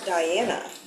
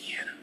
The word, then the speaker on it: Diana: first topic is for Diana and the question is would you rather live with no more music or no more movies my name is pronounced Deana I would rather have